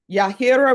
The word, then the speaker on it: Yahira: I pronounced it correctly. He's not even here to see that. Yahira.